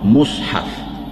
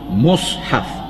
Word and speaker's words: mushaf: Sesungguhnya Quran itu masyhur dengan nama mushaf. Dia punya pronunciation dia, kita kena pronounce mushaf. Bila tulis Rumi, M-U-S-H-A-F, patutnya baca mushaf.